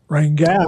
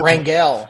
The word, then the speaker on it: Rangel: Rangel. Rangel. Yeah. Bill Montgomery made sure to get it right. Yes. If you're if you're a quarterback from Oklahoma, you should just change it to wrangle.